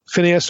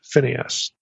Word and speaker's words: Phineas: Okay, that's the way most of us would pronounce this. Phineas or Pincas in Hebrew.